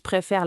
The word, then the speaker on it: préfère: La prononciation est importante. Préfère avec un son est ouvert.